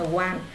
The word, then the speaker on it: wall: A wall, các bạn cứ chữ đọc chữ o nha, không đọc a wall nha, nhiều bạn đọc a wall. Wall, a wall, âm o, wall, a wall, walls, cái